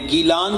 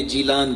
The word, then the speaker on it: گیلان: 470 ہجری میں رمضان شریف کی پہلی تاریخ کو عراق عجم میں گیلان کے اندر پیدا ہوئے جسے عربی لہجے میں جیلان کہتے ہیں.